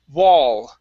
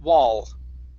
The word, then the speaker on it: wall: we have the word wall okay make sure to curve your tongue up and touch the top of your mouth wall wall okay very good uh